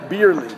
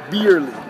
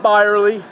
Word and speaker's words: Bierly: for me to say beerley beerly not bely not Burly it's b i e r l y for Christ's sakes beerly